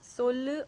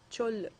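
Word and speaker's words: சொல்லு: You can pronounce that in Tamil as sollu or chollu.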